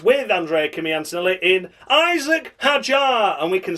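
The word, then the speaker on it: Hadjar: Isaac Hajar. That's how you say his name.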